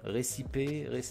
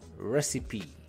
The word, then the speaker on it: recipe: Exemple, là, je ne vais pas lire récip, récip, récipé, non, recipe. C'est comme ça qu'on dit.